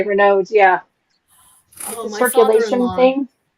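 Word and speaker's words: Raynaud: that you have not Renault syndrome yeah that we're not we're nods I pronounced It the French way Reynolds yeah a little circulation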